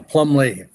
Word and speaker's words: Plumlee: Is it Plumbley? Is that the pronunciation? Right. You got it. Yeah. Plumley.